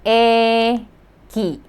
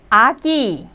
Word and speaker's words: 애기: So, 애기. 애기, meaning baby. Well, also, some Koreans would use another word, 아기, meaning a baby as well. So you can pronounce it as 애기 or 아기, both of which mean a baby.